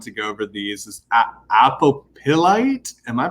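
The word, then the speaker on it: Apophyllite: Is Apostolate? Am I pronouncing that correct? Apostolate. What? Apostolate. The PH is a F.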